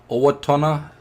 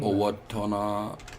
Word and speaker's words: Owatonna: Now we have a little bit of issue that we know how to pronounce this Okay. city. Yeah. So let me try. It's Owatonna, Minnesota.